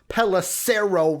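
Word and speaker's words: Pelissero: round pick as tom pelacero rhymes with arrow reported panthers paying bridgewater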